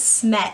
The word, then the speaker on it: Smet: And Emmett, my husband does like, but our last name is Smet, and it's spelled S-M-E-T, so to have like E-M-M-T or E-M-T, like, I feel like it's just too much.